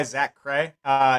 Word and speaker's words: ZaKrahe: This is Flora by Is it ZaKrahe? Is that how you say it when it's your project? So I still just go by ZaKrahe.